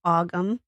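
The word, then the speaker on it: Ogham: It's not spelled like it sounds. Um, actually, I should just say Gaelic. Um, it's spelled O G H A M. So, it's aum.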